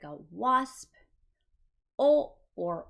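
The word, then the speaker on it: を: O, or wo, technically. It is spelled with a W, but it is not pronounced wo.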